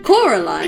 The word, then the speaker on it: Coraline: It's Coraline. Yeah, Caroline. I'm illiterate, and even I know how to say it.